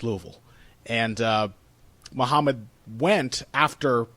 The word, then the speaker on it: Louisville: in Louisville Kentucky uh and which they Mis mispronounced repeatedly as Louisville which everyone always does but if you're from this area you know it's Louisville and uh Muhammad went after coming up as